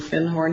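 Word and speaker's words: Findhorn: Magic of thorn and he corrected my pronunciation he said you mean fin horn he said our fin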